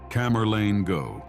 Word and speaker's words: Camerlengo: The task belongs to a special person called the Camerlengo, pronounced Camerlengo.